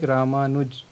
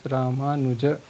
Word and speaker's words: Ramanuj: Like if I pronounce my name, that is in Hindi, so I pronounce like Ramanuj. But if I have to pronounce in Sanskrit, I will pronounce Ramanuja.